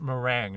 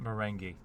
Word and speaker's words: meringue: Uh in the in the very first scene, it's um she's talking about meringue, not moringi. Um like lemon meringue.